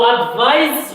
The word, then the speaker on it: advise: But to advise with S, the pronunciation Z, advise is a verb.